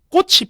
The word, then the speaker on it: 꽃이: 꽃 밑에 받침이 치읓이잖아요. 그러면 꽃을 꺾었다, 꽃이 피었다, 이렇게 되는데 전부 다 꽃이 졌네요, 꽃이 꺾였네요.